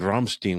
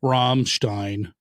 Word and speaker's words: Ramstein: Ramstein. Uh, okay. So, the Stein and Stein. So, if it's I E, you pronounce the E sound. If it's EI, you pronounce the I sound.